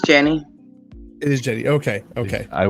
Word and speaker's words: Jenny: I meant to ask you, are we pronouncing it? Is it Jenny or Jeannie, or is... It's Jenny.